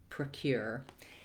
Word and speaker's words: procure: part of the word once you have cure try practicing uh starting with that cure procure you can also practice saying aure and the Cure you hear how the uh and theth are very short they have that vah they're just a little stepping stone to the main part which is cure so when you use